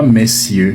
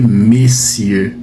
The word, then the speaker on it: messieurs: Ce n'est pas messieur. Non, quand vous voyez ce mot, il faut le prononcer messieux.